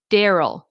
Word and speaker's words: Daryl: So, if you want your question answered, this is the name Daryl. Dare. So, it's like a a word dare.